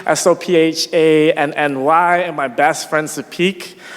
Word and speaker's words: Sopheak: and my best friend, Sapik, SOPHEAK, but it's pronounced more like Sapet.